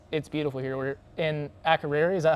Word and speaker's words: Akureyri: We're in Akureyri, is that how you say it? Akureyri.